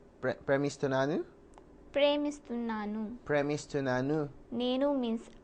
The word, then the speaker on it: ప్రేమిస్తున్నాను: So, can you try to say నేను నిన్ను ప్రేమిస్తున్నాను? Pardon? నేను Ninu? నిన్ను Ninu? ప్రేమిస్తున్నాను. Premistunanu?